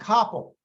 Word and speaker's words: Kopel: tonight is uh Hank Coppell and that's spelled k-o-p-e-l I'm absolutely convinced well it's pronounced the same as my name I'm convinced that if